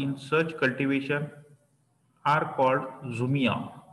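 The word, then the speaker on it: jhum: cultivation to check इथं spelling आहे जे एच यु am that is zoom cultivation किंवा याला तुम्ही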